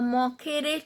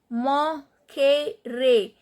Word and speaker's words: moquerez: Moquerez. Here E is pronounced as A. Here E is pronounced as A. Moquerez. Because E is followed by R, E is followed by Z.